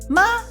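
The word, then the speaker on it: 吗: means how are you how do you say the ma you go up yeah go go up so that's a question mark right so ma ma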